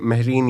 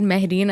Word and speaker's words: Mahreen: okay, he tells ke Mahreen, you have to go to space. Wow. First of all, I don't think he will pronounce it Mahreen. I think he'll be like Mahreen, like freaking whitewashed my name.